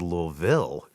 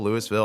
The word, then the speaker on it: Louisville: I've heard Louisville, Louisville, all that sort of thing. But You got to say it like you have Louisville. cotton balls in your mouth.